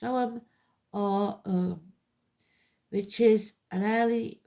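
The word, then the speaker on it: Ogham: It shows the symbol of the Urgam pronounced Oum or which is an early form of Irish writing, placed around concentric circles.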